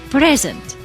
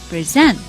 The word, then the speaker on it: present: if I pronounce the first syllable with stress by say present then it is a noun if I say present I've stressed the last syllable the second level present then it is a verb and it means to